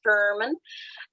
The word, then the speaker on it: VERMIN: So within our vulnerability report tracking, so we use a JIRA-based system, our Vulnerability Report Management Network, which we pronounce as VERMIN.